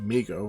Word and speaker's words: Mego: Mego, pronounced Mego, of course, Corp, was started by